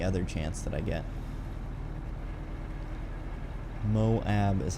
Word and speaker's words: Moab: morning and any other chance that i get moab is how i've heard it and it's an